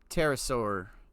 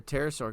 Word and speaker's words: pterosaur: Why can't you hear a pterosaur go to the bathroom? Because the P is silent.